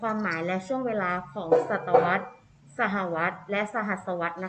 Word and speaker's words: ศตวรรษ: เป็น ศตวรรษ นะ คะ คำ นี้ อ่าน ว่า ศตวรรษ นะ คะ อีก ครั้ง นะ คะ ศตวรรษ หมาย ถึง ช่วง เวลา ใน รอบ 100 ปี